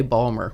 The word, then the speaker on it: Baltimore: Well, if you're from certain neighborhoods in Baltimore, you would probably say Balmer. Balmer.